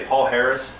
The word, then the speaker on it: Palhares: Drew, if you just say Paul Harris, everybody will know who you mean. All right. Like Paul, last name Harris. If you say it like that, everyone will know.